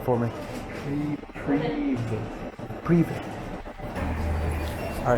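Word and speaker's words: Привет: Pronounce it right for me. Privet.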